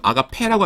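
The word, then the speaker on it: ἀγάπη: 어 사랑인데 이거는 뭐 모르실 분 없지만은 한 가지 조심하셔야 될 거라면 아가페라고 하지 마시고 요거 엡실론은 아니고 뭐냐면은 장모음 앱입니다. 그래서 아가페 약간 길게 발음하셔야 돼요.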